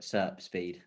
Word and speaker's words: SERP Speed: SERP Speed.